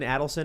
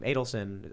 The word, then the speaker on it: Adelson: Sheldon Adelson, is that his name?